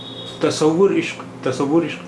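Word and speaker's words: تصورِ عشق: یہاں پر اس میں تصور کا رے جو ہے وہ اس پر اضافت ہے. تو اس کا تلفظ کیا ہوگا، اس کا اچارن کیا ہوا، اس کا پروننسیشن کیا ہوا؟ تصور عشق، تصور عشق.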